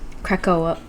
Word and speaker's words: Krakoa: I guess only the mutants can get there, and it's called Krakoa. It's spelled like Kraken. Anyway. Crack. Say crack again.